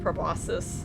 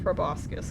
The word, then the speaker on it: proboscis: Well, I think it's actually pronounced like proboscis, but like, I've always said proboscis because that's what it looks like it says.